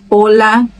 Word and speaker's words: hola: Mas ela não tem som nenhum nas palavras. Onde ela aparecer, o som vai ser mudo. Hola, helado, hijo, hacer, huracán, héroe, hombre.